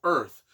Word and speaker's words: Urth: he just wanders earth now it's called earth but it's spelled u r t h like that it's an